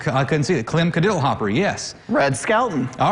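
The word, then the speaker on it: Kadiddlehopper: What was that pronounced again? Cadiddlehopper. Cadiddlehopper.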